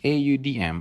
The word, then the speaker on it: Audm: The next app that I'm going to show you is AUDM, or Audm as voiceover pronounced.